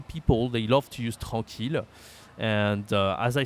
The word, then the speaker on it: tranquille: This is not easy to say. Tranquille, okay? Tranquille. So I know there is double hair here, but it's as if there was just one, okay? And QU, you say que in French, tranquille. And here there is a nasal. Oh, tranquille, tranquille.